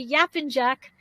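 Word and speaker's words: Yapıncak: be talking about if i say it correctly yap and jack on wifabet street right did i say it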